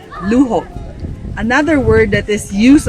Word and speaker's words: luho: One word is luho. Luo, L u H O, which means luxury. It's the same in Spanish, but it's spelled differently, but with a J. Luo.